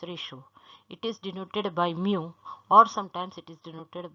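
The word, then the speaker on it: μ: It is pronounced as mu, and it is written as like this, mu.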